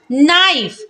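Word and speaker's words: knife: तो क्या पढ़ेंगे नो नाइफ नाइफ में भी के जो है वो क्या है एन से पहले आया है तो के को नहीं पढ़ेंगे तो क्या पढ़ेंगे नाइफ नॉलेज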